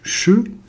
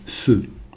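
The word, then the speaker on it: ש: Chine la lettre Chine qui se prononce donc che mais qui peut se prononcer aussi ceux la lettre Chine et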